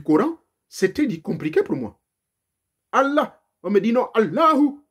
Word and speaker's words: Allah: Il faut prononcer tout à la lettre H, et il faut la respiration, un peu comme l'hébreu que j'ai étudié également.